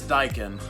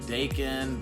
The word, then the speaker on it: Daikin: of all what is daikin you know sometimes a lot of folks when they first see the word they don't even know how to pronounce it Dakin Dyke and what what is